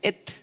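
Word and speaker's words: את: Esa palabrita se pronuncia et.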